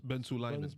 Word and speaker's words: Ben Sulayem: Ben Sulayem.